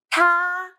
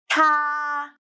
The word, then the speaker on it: 她: I will teach you how to pronounce it, how to write it, and how to use it. 她, 特啊, 她.